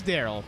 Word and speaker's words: Daryl: His name is Daryl. Thanks for that. Spelled like... Darrell, but it's pronounced Daryl.